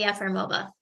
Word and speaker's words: Yefremova: Did I pronounce that even halfway correctly? like the country Kenya with an S, Yefremova.